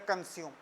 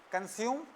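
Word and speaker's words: consume: अस्यूम या कंज्यूम।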